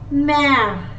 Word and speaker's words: Mère: E with an accent grave is pronounced as A. Mère.